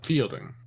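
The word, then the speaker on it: Feilding: I grew up in Friendly Fielding, where fielding. yeah, surprisingly spelt with the E and the I swapped around. Oh, that's fucking retarded. Oh, fuck off. That's fucking retarded. It's not pronounced any differently.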